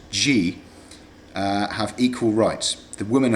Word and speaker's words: Gy: Men, pronounced An, and women, pronounced G, have equal rights.